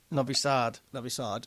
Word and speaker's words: Novi Sad: Novi Sad. Okay, that's a long A then.